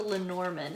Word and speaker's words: Lenormand: but it's called the Lenormand, and I'm pronouncing that the way English speakers would pronounce it.